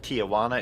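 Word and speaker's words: Tijuana: Like Tijana it's more like a Y but Jesus is more like an H.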